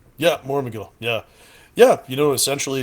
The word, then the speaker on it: Mormegil: about the new band uh if if I'm pronouncing this right Mor Mill is that right yeah Mor Mill yeah yeah you know essentially it's just we're